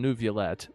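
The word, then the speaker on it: Neuvillette: him all right now the game doesn't know how to say this name but I think we eventually finally found some voice direction that settled on new Vette so let's go with that nervet yeah nervet nervet nervet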